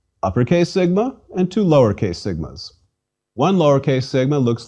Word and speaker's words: sigma: me as you prefer sigma sigma is equivalent to s and pronounced as the s in sing note however that there are three sigmas uppercase sigma and two lowercase sigmas one lowercase sigma looks